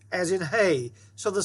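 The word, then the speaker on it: ה: So see, we call the letter a hay, we call it an H, but the sound for both of them is a like in hay, hay.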